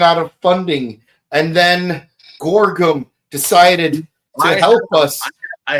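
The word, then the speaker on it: Gorgom: of funding and then Gorgum decided to help us. I had a hard time pronouncing this this group's name. So I thought I said it was Gorgon.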